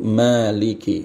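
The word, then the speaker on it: مَالِكِ: Nah, Maliki panjang ma-nya ya, isbat alif di situ. Maliki, Maliki ya. Maliki.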